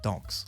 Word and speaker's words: Dox: Devotees of Christian Sonichu, or Dox, is chosen, pronounced Dox, like Chris's favorite pastime, and thus Chris's true and honest religion, Dox, was born.